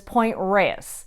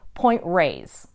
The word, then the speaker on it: Point Reyes: like cowgirl Creamery so a lot of the transplants and the tourists as well tend to call this Point Reyes and that seems to be the more popular pronunciation although most locals who've been there for a very long time still call it point raised third despite being only